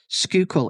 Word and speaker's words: Schuylkill: to be talking about the mystery of the Skoal notes now I have double checked this skookul is the correct pronunciation of this word it is actually spelled